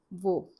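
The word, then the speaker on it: वह: But these days what people are using more is vo.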